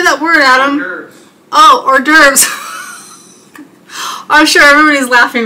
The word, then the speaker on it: hors d'oeuvres: that word adam oh hors d'oeuvres i'm sure everybody's laughing right now that's okay laughter is good and finger foods hors d'oeuvres not or divorce i should just